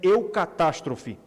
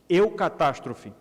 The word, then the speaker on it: eucatastrophe: criou um termo criou uma palavra que em português se pronuncia eucatastrophe eucatastrophe eucatastrophe significa uma boa catástrofe